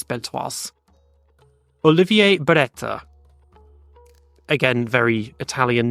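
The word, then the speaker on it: Beltoise: belas I used to I used to say belto but apparently it's belas Olivier Bera again very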